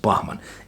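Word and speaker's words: Bachman: check yeah bman yeah well bakman but I think it should be pronounced bman anyway um so you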